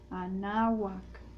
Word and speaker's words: Anáhuac: Por eso es mexica, por eso es Teotihuacán, por eso es Quetzalcóatl, Anáhuac. Todas las palabras en náhuatl son graves, el acento va en la penúltima sílaba.